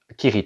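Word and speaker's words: Cirith: Ça c'est si si alors c'est un c ça se prononce Kirit en fait.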